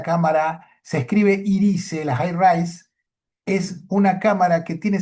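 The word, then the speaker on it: HiRISE: No, porque el telescopio más grande que hay en Marte es la cámara, se escribe IRISE, la High Rise, es una cámara que tiene 50 centímetros de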